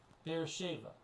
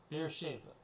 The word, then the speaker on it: Beersheba: Let's I'm looking for a pronunciation here. Beersheba. Beersheba. Okay, Beersheba.